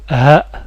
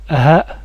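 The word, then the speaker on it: ه: à la lettre suivante cette lettre est le ha le ha c'est une lettre que nous n'avons pas en français qu'il faut apprendre à à écrire à prononcer pardon comme il faut le ha comme dans Allah la dernière lettre du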